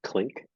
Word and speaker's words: Klink: Um, and The then guy that name, is it pronounced Clink? Klink, I think it's Okay. Klink. Okay. And something I I don't always know said what else it I would thought it be. I thought it was clinic because I kept on saying this guy's putting on a clinic, No, but maybe no, I just terribly mispronounced it.